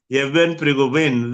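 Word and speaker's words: Yevgeny Prigozhin: How do you pronounce this name? Yeah. Yevhen Prigozhin. Yevhen Prigozhin.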